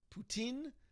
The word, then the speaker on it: poutine: Okay, so in English, you refer to it the standard French way of pronouncing it, poutine.